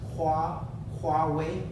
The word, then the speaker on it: Huawei: the infamous Huawei with by the way we pronounce this wah wah way barley I've seen it bastardized even by quality employees in the West and then of course